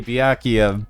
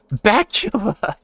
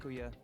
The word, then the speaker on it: Byakuya: Byakuya. Yeah, like that. That's how the fan base pronounces his name if they don't watch anime. Bacula? Yeah, they don't know how to pronounce Byakuya.